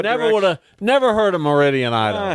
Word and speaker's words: Meridian: name right down the road oh yeah uh Sheridan Idaho it's Meridian uh what never would never heard a Meridian em H who has what direction no clue